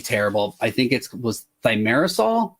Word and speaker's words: thimerosal: It was under a brand name, like and my pronunciation is gonna be terrible. I think it was thimerosal.